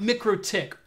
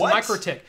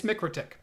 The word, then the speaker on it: MikroTik: pronouncing it right it's pronounced me critique not Mik Rohtak or it's pronounced mikrotik yeah I get I get I get corrected on how I make technical pronunciations by the way it's a Latvian company it's mikrotik boom right now now I will say some